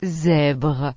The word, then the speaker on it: zèbre: La letra S entre dos vocales y la letra Z se pronuncian. z, Es el mismo sonido que en la palabra inglesa. music, Por ejemplo, maison, que significa casa, o zèbre, que significa cebra.